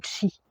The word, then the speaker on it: Qi: Je vais vous parler aujourd'hui du chi qui s'écrit Q i.